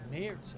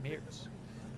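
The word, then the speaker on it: Merz: Oh, Mayors, I guess it's pronounced Mayor is one of the people says Wikipedia says that too. Thank you. Mayors.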